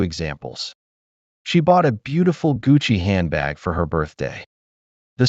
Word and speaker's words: Gucci: This CCI in Italian is always pronounced with a ch sound, like in the word choose. Here are two examples. She bought a beautiful Gucci handbag for her birthday.